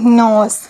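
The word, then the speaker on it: knee: ये है एन ओ एस E nose. इसको इंग्लिश में नोज़ कहते हैं। और इसके स्पेलिंग है एन ओ एस E nose.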